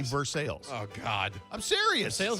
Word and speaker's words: Versailles: road named after it you would think it would be versaille like the treaty of versailles they say verse sales oh god i'm serious